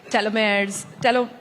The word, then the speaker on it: telomeres: We hear a lot about gene therapies, telomeres, that's how you say it, yeah.